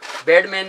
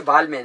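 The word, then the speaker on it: Balmain: और ये दिखाएंगे मैं आपको बालमैन का, बेडमैन नहीं है, बालमैन है ये।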